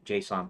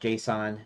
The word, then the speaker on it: JSON: um room files J Json files uh I was formed by somebody that it's pronounced Json not JS o n like I've been doing it but yeah anywh who